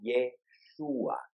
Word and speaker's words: Yeshua: En el idioma arameo, al igual que en el idioma hebreo, no existe la pronunciación J, sino que se pronuncia como y. El nombre de Jesús era Yeshua.